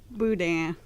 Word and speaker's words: boudin: Willie, you know how to say boudin. Good for you. It's your turn. Boudin? That wasn't bad. That wasn't bad. Say it in the mic. Come on. Say it. Boudin.